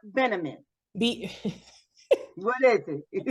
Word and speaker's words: Bieniemy: It's Bieniemy. What is it? Say his name again. No, you're making fun of me. Go ahead. No, it's Eric Bieniemy. Bieniemy.